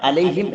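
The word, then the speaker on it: عليهم: എന്നല്ല അലൈഹിം അലൈഹിം അലൈഹിം അലൈഹിം എന്ന് വായിക്കരുത് അലൈഹിം എന്ന് ഒകാരം വരരുത് ഒകാരം പാടില്ല ഫത്ഹ ആണ് ഉള്ളത് ഉച്ചാരണം നമ്മൾ പറഞ്ഞിരുന്നു അത്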